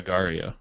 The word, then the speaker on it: agar.io: How do you spell it? Wait, are you talking about Adamus or Agario?